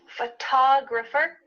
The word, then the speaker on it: photographer: Photograph. Do you notice that the first syllable is emphasized here? Photograph. Compared to I'm a photographer. That first part is small.